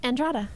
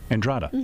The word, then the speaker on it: Andrada: Portuguese is that right marlese how do you pronounce your Legend am I saying it right andrada andrada okay I'm saying that's right yeah you girls